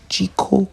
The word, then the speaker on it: Zhiko: So we went to a community called Jiko community, which is spelled Zhiko, and this is where we got into Buari.